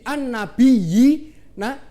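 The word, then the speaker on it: النبيين: Contoh, an-nabiyina, ini kan ada dua ya, yang satu berharokat tasdid an-nabiyyi, nah yang kedua berharokat sukun. Ini dinamakan hukum bacaan mad tamkin. Cara membacanya ditekankan kepada ya yang berharokat tasdid.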